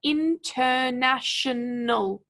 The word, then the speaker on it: international: words that are difficult we want to stretch them into syllables and then figure out which syllable to emphasize so here we have international international international so we've got that key syllable there which we know we